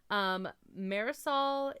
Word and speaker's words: Marisol: Marisol is rhymes with aerosol.